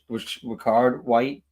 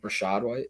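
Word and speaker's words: Rachaad White: I think he's gonna be I think he's gonna have a Ricard White kind of in uh am I pronouncing his name right? Ricard White. Rashad White.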